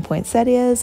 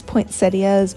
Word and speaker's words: poinsettias: supposed to say that do you know if it's poinsettias or poinsettias because i mean it's spelled poinsettias but yeah i've heard people say it both ways anyway i'm adding some